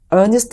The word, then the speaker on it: earnest: 어퍼를 넣을 때 계약금조로 어니스트 머니를 건다라고 표현을 합니다 근데 그 어니스트먼트라고 할 때 많은 분들이 그 발음 때문에 정직한 어니스트 honest로 생각하는 경우가 있는데요 그 스펠링이 earnest arnest mony입니다 일종의 보증금인 거죠 내가이